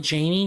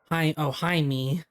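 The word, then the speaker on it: Jaime: uh hey hey May, is it hey, oh my gosh, it's spelled like Jamie but it's pronounced hi me, hi me, or something like that.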